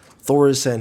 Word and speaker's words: Thaurissan: Emperor Thaurissan himself, Sir Thaurissan, Emperor Thaurissan. I know how to pronounce this guy's name because I've played him in Hearthstone.